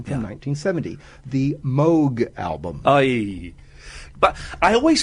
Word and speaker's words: Moog: And of course, everyone says Moog, and I've now got that thing where someone says, "Oh, it's the Moog." I go, actually, it's pronounced Moog, and I don't want